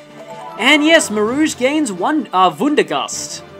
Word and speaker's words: Wundergust: And yes, Maruj gains one Wundergust. It is actually pronounced with a V because I've read its katakana.